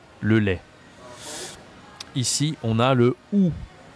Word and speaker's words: lait: Le lait. Ça s'écrit A-I-T. Le lait.